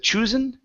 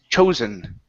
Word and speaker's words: chosen: right uh next up we have chosen instead of choosen okay this is an o sound Cho chosen chosen good job so